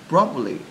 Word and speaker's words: probably: Probably has two B's, right? But we say it like it has four. Because we say probably. Yeah. Much easier to say than probably.